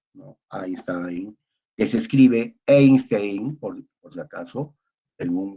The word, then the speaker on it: Einstein: Einstein, que se escribe Einstein, por si acaso, en un buen alemán es Einstein, ¿no? Pero la palabra A, E, I se pronuncia en un buen alemán AI, EI, AI, ¿no?